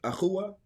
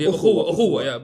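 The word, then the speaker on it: ukhuwwa: How you say it? Akhuwa? Brotherhood. Ukhuwa, brotherhood.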